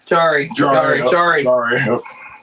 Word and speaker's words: Jari: Jari. Yeah, it's actually pronounced the way it looks, that one.